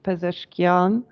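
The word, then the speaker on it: Pezeshkian: the election the democratic election of president uh pesan sorry if I mispronounced that no you pronounced it correctly thank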